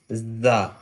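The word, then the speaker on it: زاي: Kind of whistle sound, not the complete whistle, but kind of whistle sound. Za.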